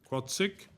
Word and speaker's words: CWAATSICH: And then the organisation is Quatsic, and it is spelt CWAATSICH.